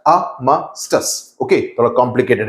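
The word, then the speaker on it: armistice: Okay, इसका pronunciation थोड़ा complicated है. इट्स AAMUH, आर्मिस्टास, STUHS. Okay, it's नॉट आर्मिस्टाइस, नहीं होता है, आर्मिस्टास.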